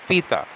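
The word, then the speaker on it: θήτα: It's pronounced theta. Theta, like F-I-T-A. Okay, for example, theta, not theta.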